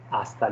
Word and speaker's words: hasta: So goodbye can be said in this way, which is hasta luego. So here again, what will happen? H will be silent. So don't say hasta luego. It will be simply hasta luego.